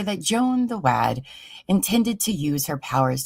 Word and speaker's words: Wad: Jack the Lantern, Joan the Wad, that tickled the maid and made her mad. Oh, it rhymes with mad, so it's definitely wad.